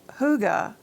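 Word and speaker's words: hygge: Huga, spelled H Y Ge and pronounced Huga, is a cultural concept from Denmark and Norway. And it goes far beyond simple coziness. Huga embodies a sense of cozy contentment, well-being, and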